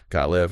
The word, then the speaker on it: Gotliv: And just for clarity for everyone listening, the surname is pronounced got giotaive. Got live.